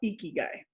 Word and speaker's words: Ikigai: it's Geeky Guy without the G. There you go. Ikigai.